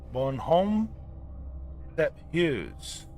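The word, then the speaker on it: Bonhomme Sept Heures: right right so Canada have something called uh Bon Home Step Hughes that's how it's pronounced um the 7:00 man so uh the children are cautioned to go to bed by 700 p.m.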